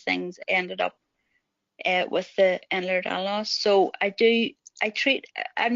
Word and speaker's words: Ehlers-Danlos: And she says it's a thing called Ehlers-Danlos syndrome. It took me a wee while to even be able to say that I couldn't pronounce it. He just kept saying Endler for some reason.